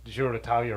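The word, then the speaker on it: Giro d'Italia: like I do say zalia but also it's less popular here so to pronounce Ziro Italia right makes sense to me I wouldn't say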